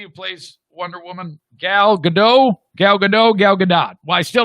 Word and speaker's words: Gadot: The T on her last name is not silent. It's pronounced Gadot.